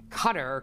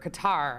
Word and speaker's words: Qatar: news out of um cutter qatar i think it's cutter you pronounce it that did a